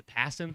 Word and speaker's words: Passan: Jeff Passan, the MLB proposed rule changes It's Passan. Passan, yeah. Passan. Passan. Jeff Passan, anyway. I mispronounced it.